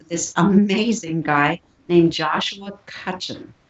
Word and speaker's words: Cutchin: Well, tonight, for instance, my guest was this amazing guy named Joshua Cutchin. I'll spell it. It's Cuthin.